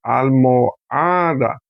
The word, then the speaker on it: almohada: Porque sílaba tónica, almohada. Sílaba tónica está aquí.